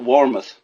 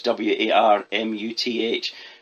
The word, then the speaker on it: Warmuth: But the man who's right on the top of this is a guy called Scott Warmuth. I'm pronouncing that wrongly. Apologies. It's Warmuth.